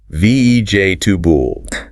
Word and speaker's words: vegetable: VEJ, tubul. 3 syllables.